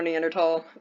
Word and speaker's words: Neanderthal: And I know it can be pronounced Neanderthal or Neanderthal, but I believe technically Neanderthal is the correct pronunciation, so I'm going with that.